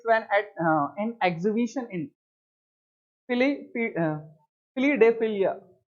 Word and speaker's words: Philadelphia: This incident goes back to 1876 when at an exhibition in Philadelphia, हाँ फिलाडेल्फिया, सही pronunciation होगा, फिलाडेल्फिया यूएसए।